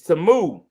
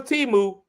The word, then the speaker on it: Temu: It's Tamu. Now, I really thought it was Timu.